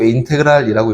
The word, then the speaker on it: 인테그랄: 인테그랄은 저 뒤에 정적분 설명해 선생님 다시 설명할 거고, 인테그랄이라고 읽어요.